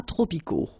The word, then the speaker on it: tropicaux: Final X not pronounced.